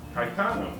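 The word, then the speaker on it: Caetano: okay here we go Kitano voso 81 years old well first of all I can't say his name very well Kitano Tao K kaitano kaitano very good kaitano plays the guitar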